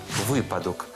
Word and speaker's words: випадок: наприклад випадок чи випадок запам'ятайте випадок наголос падає на перший склад як у словах висновок виняток за аналогію і випадок друге слово зручний багато